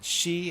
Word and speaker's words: shi: Shi and yon for 4. She sounds a little bit too much like death, so sometimes yon is used.